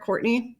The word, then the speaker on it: Courtenay: today I am talking with court court Courtney welcome to the show you can call me